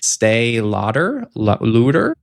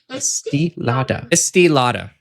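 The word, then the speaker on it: Estée Lauder: Stay Lauder? Don't worry though, guys. I'm going to do something a bit different today. I am going to get someone else to do the pronunciation from me. From the YouTube channel Face Palette Makeup. Estee Lauder. There we go.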